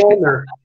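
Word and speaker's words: Mjölnir: I still don't know how to pronounce it right. Mjolnir.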